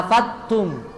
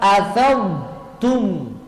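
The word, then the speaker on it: أفضتم: ya ini tentang haji ini pakai do banyak orang menggantinya menjadi ta karena setanya ta afattum yang benar afadum coba afadumum tebal ya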